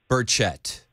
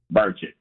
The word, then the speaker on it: Burchett: Tim, I told my producer right before he answered the phone, I said, it's pronounced Burchett. Burchett.